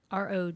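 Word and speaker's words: Roger: last name r o g e r Michael's gonna come help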